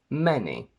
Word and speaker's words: many: The letter A never gives you the sound E except for these 4 words. Any, many, et, which is a less common way of pronouncing ate, the simple past of to eat, and Thames. AI only in said and